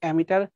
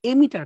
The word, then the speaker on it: এমিটার: আমাকে দিছে কিন্তু তোমাকে অ্যামিটার current 15 অ্যামিটার এমিটার current আসলে উচ্চারণটা ভুল লিখছে এমিটার কারেন্ট হবে আর কালেক্টর তোমাকে কত